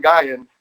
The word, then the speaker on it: Gaian: look that up golden gai and i'm saying that right yes yep golden gaian golden gaian is spelled g-a-i-a-n and as in gaia right i would imagine